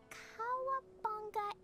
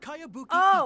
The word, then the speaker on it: Kayabuki: one i've never heard of it hmm by cowabunga icky yo mia this is a really strange name cowabunga icky who's this cowabunga it's pronounced kayabuki okay that would be me oh my god